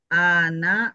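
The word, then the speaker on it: أنا: Penyebutan anaknya. An-nya jangan panjang. Penyebutan ananya bagaimana? Kalau Bu Yuni tadi bagaimana penyebutannya? Ana. Hm. Ana. Iya. Yang betul ana. Iya. Yang betul ana gitu. Jadi nunnya panjang Pak Hafif. Alif Hamzah. A tadi dipanjangin tadi. Ana. Oh. Aanj. Kalau nunnya bagaimana? Kalau nunnya dipanjangin apa tidak?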